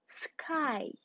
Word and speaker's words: sky: But how do we pronounce it? Listen very carefully. Fly. To fly, sky. Very nice. We pronounce it as I.